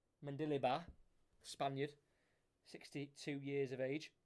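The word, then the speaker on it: Mendilibar: Jose Louis that's how you say his name mandeliba Spaniard 62 years of age got the one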